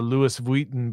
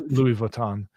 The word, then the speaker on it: Louis Vuitton: a Prada bag or a Lewis Vuitton bag, that's how you pronounce it, right? Yeah, I think so. Um, not sure. It's Louis Vuitton, but uh if you